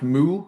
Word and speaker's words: MW: Um and I noticed that MW uh which is I guess pronounced Moo for some reason.